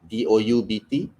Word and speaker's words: doubt: the word and was it dead or doubt d-o-u-b-t and d-e-b-t that there is a b there